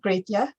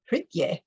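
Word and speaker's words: Grietje: And it's actually, it's not Gretje, it's Gritje. Gritje is how that's pronounced.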